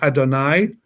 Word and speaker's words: Adonai: That's in Hebrew we pronounce that as Adonai, my God, and Elohim, Lord, created the Adam, Afar min ha'adama, dust from the earth.